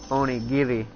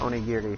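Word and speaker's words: Onigiri: So, we're here to talk about Oni Gibi, which I had a friend tell me the other day, it's like, I don't think you're saying that right. I think it's pronounced oni giri.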